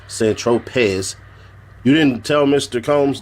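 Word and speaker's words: Saint-Tropez: Tropez, pronounced St. Tropez, you didn't tell Mr.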